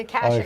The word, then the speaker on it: Akashic: The Oh, Akashic Akashic.